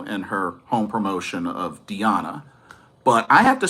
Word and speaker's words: Diana: It's actually Diana, not Diana. So it's Diana.